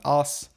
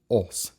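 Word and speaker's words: ôs: It is not as, it's os. Say ah, round your lips.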